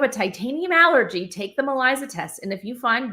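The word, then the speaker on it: MELISA: called the Malisa test it's spelled like Melissa but it's spelled it's pronounced maliza that will show if you have a titanium allergy so if you have a titanium allergy take the maliza test and if you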